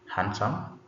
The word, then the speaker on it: handsome: So this first word D is silent. So the word is supposed to be handsome.